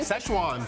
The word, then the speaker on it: Szechuan: And coming up, can you believe this line at McDonald's was over, how do you pronounce that again? Szechuan.